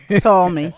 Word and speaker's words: Ptolemy: Ptolemy. Ptolemy? Ptolemy. Ptolemy. Okay. All right. Oh, so the P is silent.